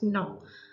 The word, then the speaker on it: gnaw: G is silent. N-A-W. Right? So we will pronounce it as gnaw.